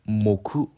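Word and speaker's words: 木: 일본어 발음 은 ' 모쿠 ' 입니다 .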